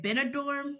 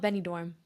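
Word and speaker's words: Benidorm: said you went to is it benador right I don't know if I pronounce that right yeah it's called Benny dorm yes so I'm pretty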